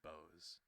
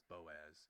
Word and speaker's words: Boaz: The best way the best way to pronounce it is to say the O and the A apart from each other, not as one big. I think last time I said Boaz. It's Boaz. I'm Dutch, live in the